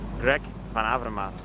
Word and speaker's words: Greg Van Avermaet: uh i heard you have some trouble with pronouncing my name it's greg van avermaet hello okay just a second it's for you